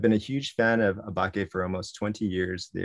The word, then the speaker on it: Åbäke: explained to us that the proper pronunciation is or becca what i do know